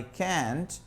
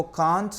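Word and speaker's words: can't: दोस्तों, इसके दो प्रोनाउंसिएशन होते हैं। अमेरिकन इसको कांट कहते हैं, जबकि ब्रिटिश स्पीकिंग में ये कैंट हो जाता है। तो नो आई कांट और नो आई कैंट both are okay, okay.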